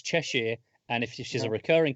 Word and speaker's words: Cheshire: sure because I knew both of you guys pronounce it Cheshire its Cheshire and if she's a recurring character would get